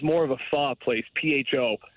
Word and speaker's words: pho: of a pho place, P-H-O. Not pho for all you people out there. It's actually pronounced pho.